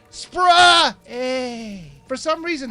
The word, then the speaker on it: SPRay: wrong it's actually pronounced spray a for some reason they capitalize most of the title except for the last two letters since the main character's name is Ray I think they're just